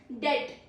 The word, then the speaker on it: debt: Next is debt.